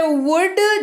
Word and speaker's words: would: अगला शब्द है would, जिसमें WOULD लेकिन L रहेगा साइलेंट और इसका अर्थ भी होता है गा गे गी।